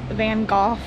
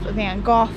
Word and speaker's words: Van Gogh: not gonna try but I do just like the sound of Van Gogh better and it sounds a little bit more correct than the American way so that's why I'm going to say it like that van Gogh also painted